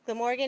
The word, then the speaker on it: Glamorgan: um a graduate of the University of Glam I'm sorry if I'm gonna mispronounce this. Is it Glamorgan? Okay, I was gonna say Glamorgan. Glamorgan in Wales where he earned his degree in theater, media, and drama.